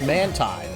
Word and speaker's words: Mantine: Mantine is actually pronounced Mantine, judging by the Japanese.